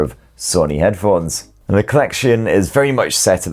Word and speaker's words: Collexion: According to Sony, it's just pronounced the Collection.